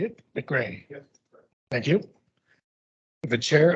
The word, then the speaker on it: McCrae: McCrae.